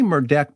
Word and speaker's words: Murdaugh: insight into Alec mordec now I say mer deck because that's how he pronounced his name in that video interview with sled uh I don't know